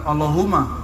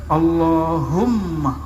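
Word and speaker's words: اللهم: situ ada mimnya allahum Gimana cara bacanya Hum bukan Allahuma allahum dia mesti ditasdirkan Allahumma ya dan dia harus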